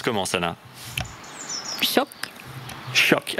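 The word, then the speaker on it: tjock: Choc. Choc. Alors, T et J et K et J vont se prononcer SH en français.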